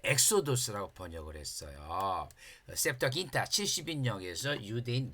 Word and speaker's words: 엑소도스: 그것을 엑소도스라 그랬어요. 그래서 그래서 유대인들은이 출애굽기를 출애굽기를 번역을 할 때 엑소도스라고 번역을 했어요.